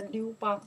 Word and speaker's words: 刘邦: We pronounce the Liubang.